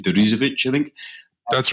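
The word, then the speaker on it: Deresiewicz: Sheep, William, struggled to do his second name, Derizovic, I think. That's right. Nicely pronounced, man.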